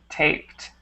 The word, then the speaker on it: taped: right here is taped taped okay so don't add that extra syllable with the Eed make sure to make it one syllable taped okay okay and also